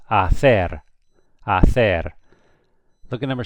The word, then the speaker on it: hacer: You remember the H's? What do the H's do? They do nothing. So this is hacer.